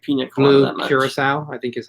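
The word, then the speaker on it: Curaçao: Curacao, I think is how you pronounce it. I always call it Caraco, but I think it's Curacao.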